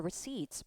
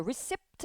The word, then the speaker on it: receipt: hold on to your receipt 발음할 때 recept 아니죠. receip 피는 묵음이에요.